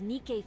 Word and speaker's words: Nikke: And I get why they're letting those Nikay folks run wild. That's how you say it.